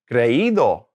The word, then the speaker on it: creído: Creído.